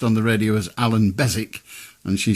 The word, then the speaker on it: Beswick: Well, my name is Beswick, spelled Beswyck, but everybody pronounces it Beswick because we have a town in England called Keswick that is spelt the same way but with a K rather than a B.